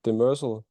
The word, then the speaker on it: Demersal: Yeah, I call it we call it Demersal, and it's not a Danish word actually.